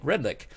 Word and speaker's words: Redlich: show or you can just google him Redlich you can see the spelling on the screen right now with re d li CH even though it's pronounced like a que red lick so that's correct yes being a show host